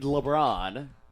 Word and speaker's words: Lebron: It is indeed LeBron.